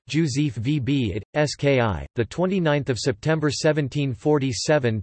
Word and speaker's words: Wybicki: Józef Rufin Wybicki, Polish pronunciation, Józef VB it, SKI, the 29th of September 1747 to the 19th of March 1822, was a Polish jurist, poet, political and military activist.